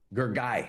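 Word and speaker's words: Gergely: Gergy, that's how you pronounce it.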